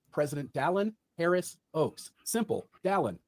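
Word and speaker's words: Dallin: Don, like Valon, but with a D. Not Dallas, not Darwin, not Dale.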